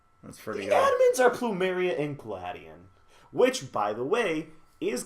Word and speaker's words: Gladion: character he's dubbed in English already and it's gladion it's actually no yeah it's gladion yeah that's that's how it's pronounced I was gonna say I felt like